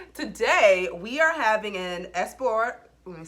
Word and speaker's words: Esporão: So today we are having an Esporão, let me say it right, Esporão, yes, Esporão Reserva 2015.